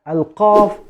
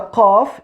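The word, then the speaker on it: ق: two letters which are alkav and el cav actually the cough is deeper than the cat so we are using the cough with the deepest part of the tongue with the soft palate from the roof of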